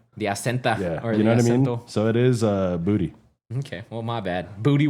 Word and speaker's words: Boutte: His name is Kayshon Boutte, right? Mm-hmm. That's how it's pronounced. Booty. It's actually pronounced booty. Yeah, it's and booty. He said it himself that it's pronounced Kayshon Booty.